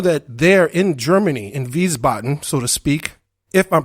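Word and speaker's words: Wiesbaden: there in Germany in viboton so to speak if I'm pronouncing that correctly the W is pronounced with the v in VB and down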